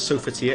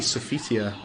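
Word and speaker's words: Sophitia: wrong all this time i thought it was so fatia it's actually sofia according to the game itself i said her name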